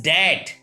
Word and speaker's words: debt: DEBT. It is dat. Dat means curves, read. It is not dat.